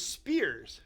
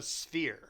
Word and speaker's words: sphere: But those spears, no, they're not a spear because that's not pronouncing it right. It's a sphere.